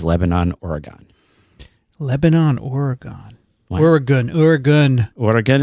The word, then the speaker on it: Oregon: Oregon is what we say. Say Oregon. Pronounce it properly.